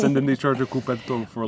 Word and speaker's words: coperto: The only thing you might encounter is the coperto. How do I pronounce it? Coperto.